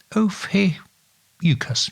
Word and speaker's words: Ophiuchus: The new one being the house of, I'll see if I can pronounce it right, Ophiuchus. Ophiuchus, yes.